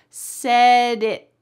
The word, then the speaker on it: said it: So, it's going to sound like this. Said it. Said it. My tongue is stopped up here. I didn't say said it. I wish it would be really clear, right? But instead, it's said it.